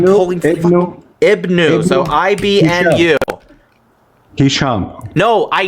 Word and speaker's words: Ibn: So, Ibn Hisham, you still pronounce it as Ibnu, although so it's just Ibn.